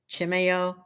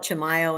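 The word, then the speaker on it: Chimayó: the Sanuario D Chimay Chimeo. I always say it wrong. I used to call it Chimayo and then I was corrected and it said it was like chimeo.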